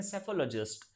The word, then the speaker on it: psephologist: और इसमें election trends वगैरह के जो एग्जामिन करने वाले जो बंदे होते हैं उसे हम कहते हैं सेफोलॉजिस्ट। ये भी वर्ड पूछा गया है। इसकी स्पेलिंग में लिख देता हूँ, PSEPHOLOGIST।